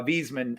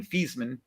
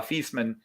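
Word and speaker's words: Viessmann: decoder and now uh wiesman um or and german feaseman the v is pronounced as an f in german uh feastman uh does make uh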